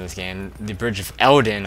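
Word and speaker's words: Eldin: game the bridge of eldon i pronounced that wrong last episode uh i said bridge of eden it's called bridge of eldon which is now split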